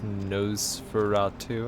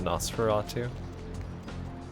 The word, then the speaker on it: Nosferatu: for nosies i notice the prince pronounced his nose for route to instead of Nosferatu oh geez wrong door